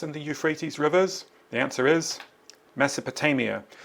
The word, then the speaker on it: Euphrates: So the river names are the Tigris and the Euphrates. That's how you pronounce them. I think they're Greek words. Uh don't say Euphrates. It's the Euphrates, but they're not in Greece.